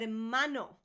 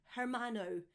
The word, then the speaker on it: hermano: I hear people saying all the time hermano, hermana, brother or sister, and pronouncing the H. Just like in hola, you never pronounce the H, guys.